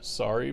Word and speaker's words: Sorry: Sorry, pronounced just like the apology.